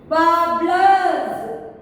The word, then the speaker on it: Warblers: Warblers. W-A-R-B-L-E-R-S. Warblers. In this also we have to silent both the R's.